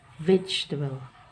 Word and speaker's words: vegetable: Kemarin saya koreksi ya pengucapannya adalah seperti ini nah ini diucapkan vegetable vegetable jadi ini dihilangkan huruf e Begitu juga dengan nyaman